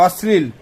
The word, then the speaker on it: অশ্লীল: এ কথাবার্তাটা খুব অশ্লীল হয়ে যাচ্ছে অশীল নয় অশ্লীল অশ্লীল হয়ে যাচ্ছে উচ্চারণটাও ঠিক করে করতে পারো না না পারি না কি